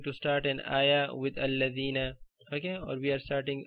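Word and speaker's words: الَّذِينَ: wasl in the beginning, then you have to pronounce it. You have to say alladhina.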